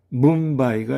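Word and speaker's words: ムンバイ: 그리고 미음의 경우는 뭄바이가 있겠습니다. 이것은 인도의 큰 도시죠. 뭄바이. 여기에서 비음의 응이 한글의 미음에 해당되는 M으로 발음되고 있습니다. 그래서 뭄바이입니다. 자, 다음은 이응의 경우는 해밍구웨이가 되겠습니다.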